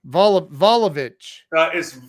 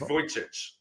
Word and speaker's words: Vujicic: Volovich. It's I think it's Vujicic. Oh, is it? Yeah, I think so. I'm pretty sure that's how you pronounce it.